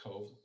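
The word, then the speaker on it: Cobh: few more photos this is the town of cove uh even though it's filled with a b isn't boy is pronounced cove like a b as in victor this was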